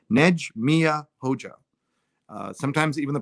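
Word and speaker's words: Nexhmije Hoxha: neg mia hoga hoga hoga so that's the pronunciation nege mia hoja sometimes even the pronounced ears are hard to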